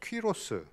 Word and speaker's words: 퀴로스: 그래서 큐노의 아들이다 자식이라서 퀴로스. 우리 어른들이 발음하기 어려우니까 고레스 이렇게 된 거예요. 고레스 하면은 서양 사람은 못 알아들어요.